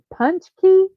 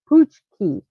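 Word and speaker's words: pączki: The name can be pronounced punchki, punchki, or puchki.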